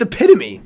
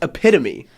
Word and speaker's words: epitome: film ranked enemy Brady no it's not it's epitome that's know any tweets who John Rothstein it's it's it's pronounced epitome what is it is